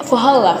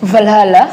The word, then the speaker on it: Valhalla: battles uh they want to going to Falhalla Falhala. How do you pronounce it? Valhalla.